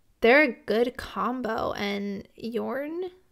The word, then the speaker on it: Jorn: a good combo and Yorn I believe is how you say it he is so awesome